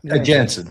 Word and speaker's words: Jensen: Jensen, perfect.